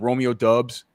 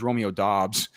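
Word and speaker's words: Doubs: say, hey man, like Romeo Dubs. He finally got to the pros and he's like, hey man, like my name's Romeo Dobbs.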